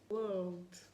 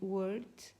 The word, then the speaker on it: world: Doncs la paraula és aquesta, world. The world is mine. És una paraula una mica tricky, una mica complicada. Hem de vigilar per no acabar dient word, que acabarà sent literalment una altra paraula.